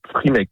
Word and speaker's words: Frimake: Alors, l'application, c'est Frimake. Ça s'écrit F-R-I-M-A-K-E.